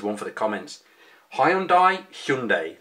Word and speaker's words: Hyundai: the comments Hyundai Hyundai there's a big TV campaign at the moment um sort of politely making fun of those that can't pronounce Hyundai correctly and telling us that that's how you're supposed to say things I've been saying it's home die for 20 odd years and whilst that's almost certainly wrong it's a bit peculiar